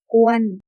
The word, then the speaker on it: กวน: คั่ว ให้ พอ สุก กวน อ่าน ว่า ก อัว น กวน หมาย ถึง ทำ